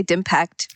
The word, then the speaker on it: DIMPACT: I think we just say DIMPACT, but DIMPACT. It's digital impact.